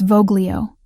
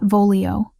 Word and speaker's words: voglio: It's voglio, not volio. Soft G, like this.